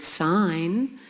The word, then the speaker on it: sign: There is no B sound in the word doubt, no G sound in the word sign, no S in island, and no W in who.